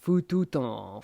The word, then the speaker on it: fututum: You would nasalize this, so it would be pronounced fututon, fututon. You kind of swallow, nasalize that M.